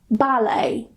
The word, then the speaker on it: ballet: So if they end with a T, we normally don't pronounce it. For example, ballet. What was that? Ballet. Ballet. Ya. Tapi ada aja yang bacanya ballet ya, gitu. Tapi but actually in English pronunciation-nya ballet. Kayak ngomong balai ya, tapi balainya pakai bunyi A, ballet.